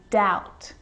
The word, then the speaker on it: doubt: crumb and the letter b is often silent when it's before the consonant t so think of these